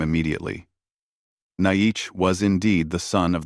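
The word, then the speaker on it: Naiche: "I am Naish," he said, using the Apache pronunciation of his name.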